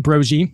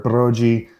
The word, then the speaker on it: Broggi: Legend has it that my grandfather, the Italians, were Broggi. The Irish people weren't intelligent enough to say it correctly, so they just changed it to a hard G.